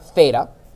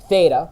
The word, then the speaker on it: theta: Yes, this is the Greek letter theta, which is spelled T-H-E-T-A. Theta, not F like the cheese, but theta with a T-H in the beginning.